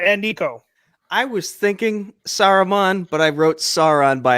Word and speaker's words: Saruman: I was thinking Saruman, but I wrote Sauron by accident.